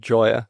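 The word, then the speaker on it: Gioia: Interestingly, a guy called Ted Joy, I think it's how his surname is pronounced, Gi O.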